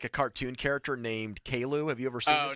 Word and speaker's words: Caillou: People on the YouTube page think he looks like a cartoon character named Kalu. Have you ever seen this kid before? Caillou is how you say the name. Caillou.